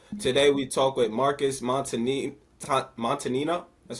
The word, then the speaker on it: Montagnino: So today we talk with Marcus Montagnino.